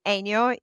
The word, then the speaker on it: Enio: So it's Enio, E-N-I-O, Enio, and then the word style. Eniostyle. Okay, cool. Eniostyle. E-N-I-O style.